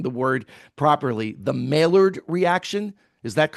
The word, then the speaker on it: Maillard: is, and I don't even know if I'm pronouncing the word properly, the Maillard reaction. Is that yeah, correct? the Maillard reaction.